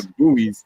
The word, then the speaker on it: buoys: Yeah, Silent the You. buoys, like the floaty Or objects. The buoys.